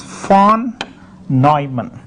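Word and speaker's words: von Neumann: fact this uh uh is a German name so you have to pronounce as F nyman and even today for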